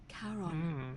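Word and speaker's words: Charon: it's just as you described it only your pronunciation is a little off it was c h a Caron the fairy Caron who in exchange for the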